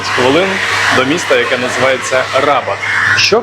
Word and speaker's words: Rabat: має прямий зв'язок із столицію мароко рабат з наголосом на другу А коли потрапляєш в таке